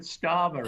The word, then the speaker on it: Starmer: Drama rhymes with Starmer, and this is a true Starmer-rama drama.